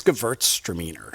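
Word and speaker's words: Gewürztraminer: and if you could pronounce it again it's GT stramer so the W is like a V the other uh little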